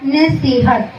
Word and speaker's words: نصیحت: نصیحت عربی زبان کا لفظ ہے, تلفظ ہے نصیحت.